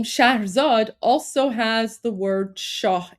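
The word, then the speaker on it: Shahrzad: Um, and of course the the the princess the princess in that story um her name was Shaherzad, which is actually pronounced Shah Zad, which is an Iranian name, by the way.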